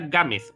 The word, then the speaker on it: Gámez: Gámez, porque Gámez es mi apellido, ¿vale?